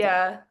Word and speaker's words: Kia: Got, is it Kaya or Kia? I would like to honor actually how you pronounce it. Kia, like the Kia.